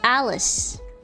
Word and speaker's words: Alice: to read my name it's Alice the same as Alice Alice of Wonderland pretty much the same Alice I guess for for